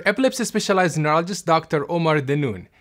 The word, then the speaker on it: Danoun: specialized neurologist Dr Omar de noon the noon is like noon time Dan noon that's how I say my name about a third of